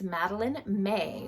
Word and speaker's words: Madeline May: So anyway, I was saying it wrong the whole time. It's Madeline May, which I assume would be like first middle name.